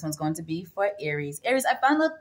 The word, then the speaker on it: Aries: going to be for aries aries i found that the real pronunciation of your name is um pronounced eris okay so i think